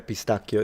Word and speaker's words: pistachio: Yeah, pistachio is how you say it.